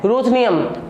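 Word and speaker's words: Ruthenium: पहले आप बोलेंगे रूथ, फिर बोलेंगे नियम, रूथनियम।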